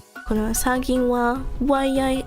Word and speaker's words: は: Ha is only pronounced wa when it's the word is.